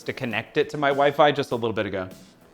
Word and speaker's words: Wi-Fi: George, it's pronounced wifey. Okay. Also, Pinsomniac, that was not stated in the form of a question. I'm sorry. Yeah, it's Wi-Fi.